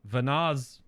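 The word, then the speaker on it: Venat: the sundering happens via vanaz Vana it's hard to put a possessive on Vana when the t is silent right so that's that's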